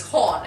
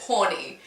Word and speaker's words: Horn: need to realize that my last name is horn and it's pronounced H Oh art and eight the teacher